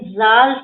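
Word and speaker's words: ذال: होती है ठीक है ध्यान से देखिए जाल इ pronounce from the टिप ऑफ the tongue and the inner as ऑफ the upper teeth inner as कौन सा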